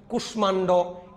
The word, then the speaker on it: কুষ্মাণ্ড: আমি বলেছিলাম কিছু সংস্কৃত শব্দে, কতিপয় কয়েকটা, এগুলাতে মফলা বজায় থাকবে। কুষ্মাণ্ড, স্মিত, কাশ্মীর, এগুলাতে বজায় থাকবে।